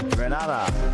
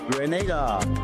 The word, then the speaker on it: Grenada: So today, like we Germans say, we are in Grenada. But I heard in English it's called Grenada.